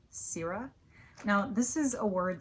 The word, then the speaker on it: sirrah: This word is pronounced sira. I like to remember it because it kind of sounds like you're saying the word syrup but without the p at the end. Sierra.